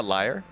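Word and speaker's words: lyre: not mocking your accent a liar is a stringed instrument a liar l y r e yeah Liar Liar uh anyways a never mind whatever the pronunciation is the same for most people any or close enough anyways the Helens are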